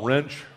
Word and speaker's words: Wrench: my name is wrench last names pronounced like the tool an easy way to